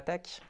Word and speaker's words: TeX: hasard parce que donc c'est donc la tech oui fun fact ça se prononce que à la fin.